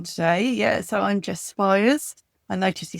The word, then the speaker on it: Spiers: So, I'm Jess Spires. I noticed he said Spears, Jimmy.